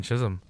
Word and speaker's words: Chisholm: there is that i can chinches kai chan chism that man it's so great to be able to hear my last name pronounced correctly by everyone here in south florida